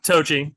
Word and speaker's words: toji: and did I say that right is it toji is is that how you pronounce it yeah tochi or I just say Hector but people like